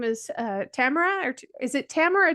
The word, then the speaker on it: Tamara: lady with me today her name is uh Tamara or is it Tamara or Tamara because I've heard it pronounced both ways so have I and everything in between it's Tamara you got it right the first time congratulations